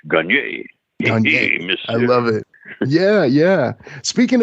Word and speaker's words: Gagne: That's the way they pronounce it in Boston anyhow, but it's really supposed to be a little accent goo after the E for the French Gagne.